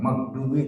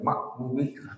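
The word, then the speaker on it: المغضوب: Ini bukan magdubi tapi makdubi kedengarannya.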